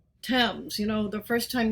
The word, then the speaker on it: Thames: gave us words like thames you know the first time you saw the thames river printed you probably thought you should pronounce it thames like james but it's pronounced unusually because from the celtic